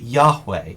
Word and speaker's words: Yahweh: We pronounce it Yahweh, even though we don't really know for sure how it was pronounced.